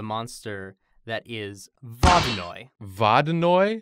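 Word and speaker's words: Vodyanoy: that is bobbing Oy vada Noi I think vada know is the closest pronunciation it could be vaginally spelled something like vo dya and oh I is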